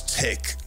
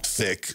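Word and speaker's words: Thich: I have arrived ah I think it's tick not thick despite the uh the H but now I'm hoping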